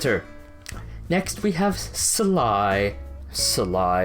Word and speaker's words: Sly: next we have sly sly it's not two syllables sly yes we have sly